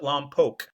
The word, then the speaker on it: Lompoc: okay, Is it Lompoc or is it Lompoc? the locals pronounce it Lompoc.